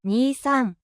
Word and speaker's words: Nissan: And that's because the number two is pronounced ni and in Japanese and the number three is pronounced s. So, two and three. Nissan.